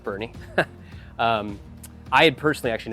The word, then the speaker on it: Boerne: kind of like where's borne Texas and then obviously we got educated really quickly that it's pronounced Bernie um I had personally